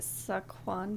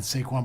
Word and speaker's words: Saquon: Saquon Barkley.